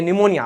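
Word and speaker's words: pneumonia: हां ये निमोनिया अब जबरदस्ती उसमें पी साइलेंट करो। निमोनिया ना पी निमोनिया पी लगाना पड़ेगा जबरदस्ती साइलेंट करने के लिए।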